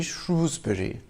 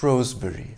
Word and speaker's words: Shrewsbury: a majority believe that it should be shrewsbury they say that only posh people or outsiders call it rosebury one argument they offer to support their point of view is that shakespeare wrote the taming of the shrew not the taming of the shroe the town of shrewsbury